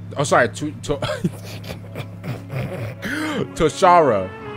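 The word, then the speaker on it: Toshara: super fun I can't lie to you bro to toshida oh sorry to to toara to Tosha T Tara that's how you pronounce it okay oh that's ooh I kind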